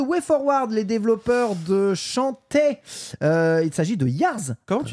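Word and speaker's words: Shantae: forward les développeurs de chanta il s'agit de yars com rising ch chant chant ou chanta ou ça toujours été chanta ouais chantille ça ça s'écrit chanta chant un jeu gavé de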